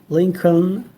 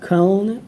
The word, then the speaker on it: Lincoln: I have to check if the last l sounds or not I think sometimes that may vary I don't know but uh it it should be link Lincoln or Lincoln. Okay. Without the last L and comfortable.